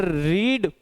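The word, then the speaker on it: read: सर रीड पढ़ना काम का इंट्रोडक्शन है, लेकिन रेड, याद रखना इसे रेड ही पढ़ेंगे। क्यों, क्योंकि रीड रेड रेड, रीडिंग रीड्स। चलें आगे। ये इसका प्रोनाउंसिएशन एक्चुअल में रेड ही होगा।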